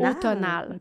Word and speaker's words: automnal: a fait « Non, il ne faut pas dire le M. Faut pas prononcer le M. » Automnal.